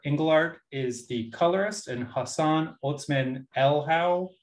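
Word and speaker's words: Hassan Otsmane-Elhaou: is the colorist and hassan otzman el howe i think is how you say his name is the letterer i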